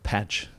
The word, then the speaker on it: Paatsch: by Ben Kemp and today's guest is patch I checked before we started that uh